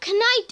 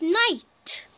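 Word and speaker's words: knight: kite yeah it's not kite it's night why is everybody telling me to say night you spell it as kite but the K is silent say night as night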